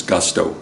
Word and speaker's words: Gusto: to make it easy my nickname is gusto yeah like a gust of wind with a no well anyhow I'm thankful